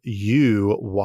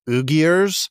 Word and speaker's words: Uyghurs: uyghurs and that's spelled u-y-g-h-u-r-s in in English so it looks like ugiers but it's pronounced uyghurs and these these ethnic